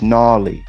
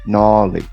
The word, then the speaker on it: Knolly: coffee coffee coffee it's gnarly gnawley i don't say it that way so i don't care how you say it you could say it i say nollie but it's really not pronounced that way either so it's uh yeah